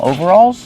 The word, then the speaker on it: overalls: It's like two words over and all together. Overalls. Over. Use a long O sound like know and go. Over. Alls. Use the a sound like ball and call. Alls together.